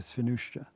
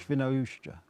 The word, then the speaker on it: Świnoujście: It's easier if you say it like Sean Connery. Świnoujście. Świnoujście.